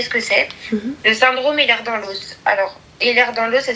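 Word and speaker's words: Ehlers-Danlos: Si tu veux l'écrire pour le pour chercher ce que c'est le syndrome l'air dans l'os. Alors l'air dans l'os ça s'écrit E L H E R S.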